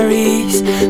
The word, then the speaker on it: Rees: Mi apellido es inglés, se pronuncia Reese.